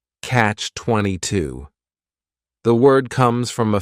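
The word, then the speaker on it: Catch-22: it's a compound noun the word catch is just one syllable and then 22 is three syllables and the stress is on that final syllable Catch 22 the word comes from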